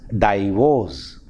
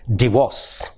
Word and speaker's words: divorce: In the same way, we have the word, we mispronounce the word divorce. We mispronounce it as divorce. It is, the correct pronunciation of the word is divorce.